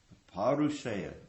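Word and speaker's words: apauruṣeya: Is that the right pronunciation? Aparusaya.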